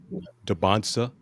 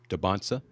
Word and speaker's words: Dansa: Um Kapit AJ Dansa. I've been saying it his last name wrong all this time until I heard it done the broadcast. Dansa.